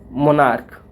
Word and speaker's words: monarch: okay, जैसे हो गया मोनार्क, मोनार्क CH आ रहा है लेकिन प्रोनाउंसिएशन कर रहे हैं तो क्या आ रहा है, मोनार्क, क, मोनार्क, तो इसको प्लूरल बनाने